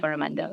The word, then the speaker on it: Coromandel: for the Philippines, the Persian Gulf, and the Coromandel coast in India? Did I pronounce that right? Yeah. Coromandel.